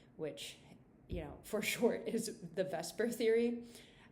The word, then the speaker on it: VSEPR: for short is the VSEPR theory. Obviously, it's not spelled completely like VSEPR, but that's how it's said.